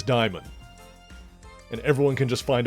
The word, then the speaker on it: Daimon Hellstrom: The Marvel character, the son of Satan, Daimon Hellstrom, his name is not Damon, his name is not Damien, his name is Daimon.